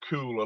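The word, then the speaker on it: Caol: live in fort william place called cool a little village in fort william cool c-a-o-l c-a-o-l it's spelt not c-o-o-l okay c-a-o-l so then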